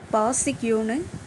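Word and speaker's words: parce que: பிகாஸ்க்கு ஃப்ரெஞ்சில் பாசிக்யூன்னு சொல்லணும். PARCEQUEன்னு இருக்குது. இதில் ஆர் சைலன்ஸ், மற்றபடி பாசிக்யூன்னு ப்ரொனவுன்ஸ் பண்ணிக்கலாம்.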